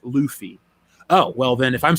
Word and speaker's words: Luffy: heard this jeff but the main character of one piece's name is pronounced luffy oh well then if